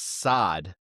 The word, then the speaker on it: Saad: They signed Tunisian winger Elias Saad. Am I pronouncing that right? I think it's Elias. Elias, but the Elias. last name is right? Saad is right.